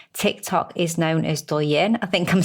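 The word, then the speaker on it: Douyin: so in China Tik Tok is known as doen I think I'm saying it right d o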